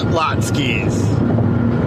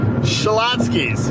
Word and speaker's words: Schlotzsky's: am I was hot skis foreign you're using extra syllables no I'm not Schlotzsky's Schlotzsky's Schlotzsky's I already